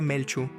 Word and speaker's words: Miolchu: Por eso el sol se llama Miolchu, que se pronuncia Melchu, galgo.